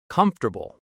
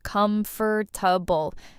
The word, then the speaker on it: comfortable: Let's start with word number one, comfortable. A lot of learners say every letter, comfortable, but native speakers say it shorter. Comfortable. Three parts, not four.